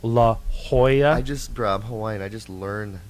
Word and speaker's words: La Jolla: And there's no, it's not La Jolla, it's La Jolla.